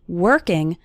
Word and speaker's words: working: being consistent that means working on your English the letter O in working has more of an her sound working working on your